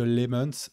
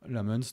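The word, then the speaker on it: Lammens: Euh l'arrivée de Lemons ou Lamons, je sais pas comment toi te dis que c'est Lamons qu'il faut prononcer. Lam Lamuns.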